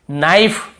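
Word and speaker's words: knife: के को नहीं पढ़ेंगे नाइफ यहां पर भी के को नहीं पढ़ेंगे नो इसे नाउ नहीं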